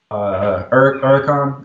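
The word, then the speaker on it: Huracán: So I have a 2017 Huracan. That's how it's pronounced.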